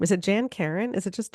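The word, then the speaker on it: Jan Karon: how do you say her name is it Jan Karen is it just Jan Karen yeah that's that's how I've always said it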